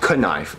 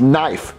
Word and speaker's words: knife: or jeffy it's pronounced knife no it's not there's a k so you pronounce it nice jeffy the k is silent you you only know